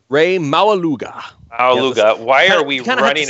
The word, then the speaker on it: Maualuga: do we have to run and grab Ray Mauga, if I'm pronouncing his name right? Ray Maualuga. Maualuga. Why are we running out with that? You kind of have to say it with that accent, Maualuga, and then it'll work out.